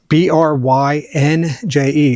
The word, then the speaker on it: Brynje: Specifically from this company right here, Brynje, it's B-R-Y-N-J-E, it's a Norwegian company, so it's pronounced Brynje.